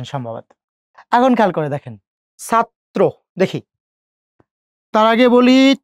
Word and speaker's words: ছাত্র: এই যে র ফলা যুক্ত করলাম, ত র ফলাত্র ওকার, ছাত্র। এখন যদি যাত্রী উচ্চারণ করি, খেয়াল করে দেখেন, আবার তর সাথে কি যুক্ত হয়েছে?